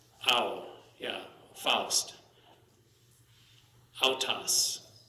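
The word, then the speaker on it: αὐτός: An alpha and upsilon is going to be ow. Ow, yeah, Faust. Autos. Autos.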